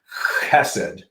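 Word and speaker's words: חסד: Although I do remember a professor saying that the pronunciation of that should be chesed. Yeah. With the point, you probably know better than I did, but his point was, if the person sitting in front of you, if their neck doesn't get a little wet, you haven't said it right.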